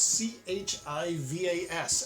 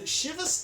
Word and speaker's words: Chivas: um similarly I never really knew how to pronounce c-h-i-v-a-s and shivas doesn't sound Scottish but it is apparently it's